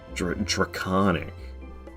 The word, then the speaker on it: Draconic: I don't want to go to Draconic Tree Sentinel. Draconic. I don't know. I don't like it. It's I know it's like pronounced like the word iconic.